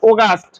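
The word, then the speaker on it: August: আগস্ট ইংলিশে কি হবে এ ইউ উচ্চারণ হবে সবসময় ওইটা হবে ওগাস্ট তাহলে এটা কি হবে ও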